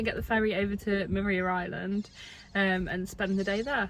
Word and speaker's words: Maria Island: Morgan spoke to a local who said that there's no parking restrictions here, and they also pronounced it Maria Island, so we've probably been saying it wrong.